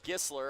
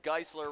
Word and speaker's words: Geisler: i kept calling her gistler i think i got it right this time he said geisler rhymes with chrysler so hopefully it worked